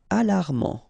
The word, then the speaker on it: alarmant: Alarmant. Final not pronounced.